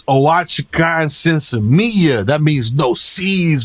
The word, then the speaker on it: Oaxacan: Oaxaca. Oaxacan. Oaxacan. Listen, you can't expect high people to pronounce hidden letters like that.